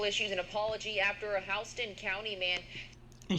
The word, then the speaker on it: Houston: The Georgia State Patrol issues an apology after a Houston County man. And she says Houston. I guess they pronounce Houston in Georgia.